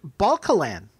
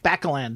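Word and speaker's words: Bakalyan: in this episode, and I always say his last name wrong, he died recently as well, Richard Balcalan. Yes. Am I saying? I'm totally mangling his name. Baccalan. There you go.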